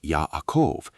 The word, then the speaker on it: Jacob: Jacob, pronounced Yahakov, is built from a root